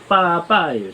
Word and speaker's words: 八八: 첫 번째고, 두 번째는 요 88의 발음이 빠빠예요. 중국말로 하면은.